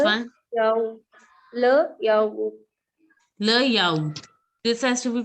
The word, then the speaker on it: yaourt: Le yaourt. This has to be pronounced. T has to be pronounced in this. So it is yaourt. Le yaourt. Arun Pandian, can you pronounce this? Layout.